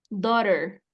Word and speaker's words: daughter: Se va a pronunciar do, tal cual, do, daughter, ¿sale? Así es como va a sonar, daughter.